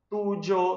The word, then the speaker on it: tuyo: Lembrando que esse Y aqui, a depender da variação linguística, no ano, eu posso pronunciar ele como se fosse um J. Eu posso falar tujo, sujo, ok?